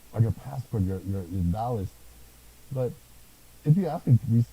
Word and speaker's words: Taoist: You can say Taoist. It's Yeah. pronounced Taoist, Yeah.